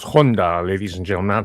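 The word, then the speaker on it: 本多: It's pronounced Honda ladies and gentlemen not Honda.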